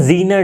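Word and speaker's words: Zener: अब बात करते हैं जीनर डायोड की। जीनर डायोड या फिर जेनर डायोड, जो भी आप इसे प्रोनाउंस करें, ठीक है, कहीं कहीं पे जेनर, कहीं कहीं पे जीनर किया जाता है।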